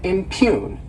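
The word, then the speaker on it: impugn: next is the verb impune to impune this word has two syllables and the stresses on that second syllable in cune and what it means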